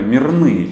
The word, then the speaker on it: мирные: что мы сразу сказали мирные черкесы как было принято говорить 19-м веке то есть ставить ударение как раз так да совершенно верно наш